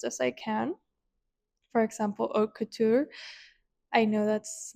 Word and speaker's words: haute couture: And if you see it spelled, and if you speak English, you're probably not going to pronounce it right.